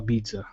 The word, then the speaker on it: pizza: Now give me a P instead of pizza.